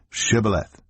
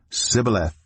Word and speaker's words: Shibboleth: If he replied, "No," they said, "All right, say Shibboleth." If he said Sibboleth because he could not pronounce the word correctly, they seized him and killed him at the fords of the Jordan.